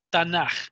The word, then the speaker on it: Tanaj: la que se pronuncia, se escribe T-A-N-A-J. Tanaj, pero se pronuncia el AKH, es como j, hace un sonido de j, ¿ok? Por eso se lee Tanaj.